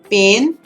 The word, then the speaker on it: pain: I'm sure you've understood the pronunciation difference as well. At the end, I've showed you there. Pain, P-A-I-N, pain, P-A-N-E, and a quick one, pen.